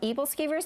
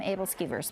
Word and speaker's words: aebleskivers: think it is and some people pronounce some evil skivers I pronounce them able skivers but they're a little Danish pancake and so